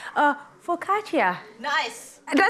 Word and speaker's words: focaccia: making that snack right now it's called uh focaccia nice did i say it right yes i